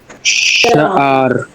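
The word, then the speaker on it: שַׁעַר: Sha'ar. Let me hear a firm accent on the first syllable.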